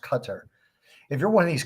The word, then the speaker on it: Qatar: you're the uae if you're qatar sorry it's pronounced qatar if you're one of these countries are you